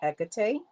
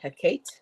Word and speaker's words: Hecate: Some people pronounce it Hecate. Some people pronounce it Hecate. Some people pronounce it Hecate or Hecate.